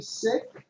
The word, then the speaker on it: Sikh: Singh in that regard that's a sick so many people say seek even Sikhs even six will say